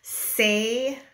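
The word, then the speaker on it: Saie: Say highlighter.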